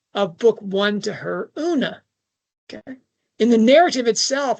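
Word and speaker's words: Oonagh: Who are imprisoned by disability and poverty that her best friend was named Una. It's spelled differently. It's given an Irish spelling, but it's it's it's homophonic with uh una na of the very queen.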